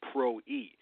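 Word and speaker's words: πρωΐ: It's P-R-W-I, and it's pronounced pro-e. Pro-e means the daybreak watch.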